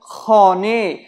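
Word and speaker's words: خانه: যেমন খনে, খনে মানে বাড়ি, দেখুন এখানে হে আছে শেষ বর্ণ, কিন্তু এই হে এর কোনো উচ্চারণ হচ্ছে না।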